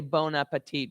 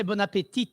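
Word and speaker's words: bon appétit: Well, they don't say bon appetit because we don't pronounce the T at the end of bon appetit, but they do say bon appetit.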